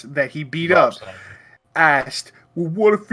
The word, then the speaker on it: Schneider: Rob Snyder.